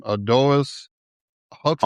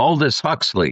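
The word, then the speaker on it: Aldous Huxley: Adoris Huxley. Aldis Huxley.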